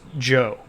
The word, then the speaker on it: Zhou: his vassals is the Joe clan um which is the sort of main topic of tonight and it's spelled like this when we transliterate it into English but it's pronounced Joe um and the Jan